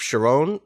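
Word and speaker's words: Charon: stella who has taken over the role of sharon is that am i pronouncing that right okay good thank god i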